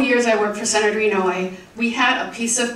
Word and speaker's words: Inouye: Phonetically, it is E-N-O-W-A-Y. Inouye. That was the Washington, D.C. version of how to pronounce his name correctly.